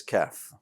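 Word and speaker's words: كاف: words that are close so calf right like a baby cow is pretty close to the uh pronunciation of kaf it's also what a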